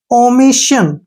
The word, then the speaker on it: omission: और SSION को Shin, ओमिशन, ओमिशन। क्या पढ़ेंगे? ओमिशन। क्योंकि एस के बाद ION आया ना, इसका उच्चारण श होगा और एन के लिए न, ओमिशन।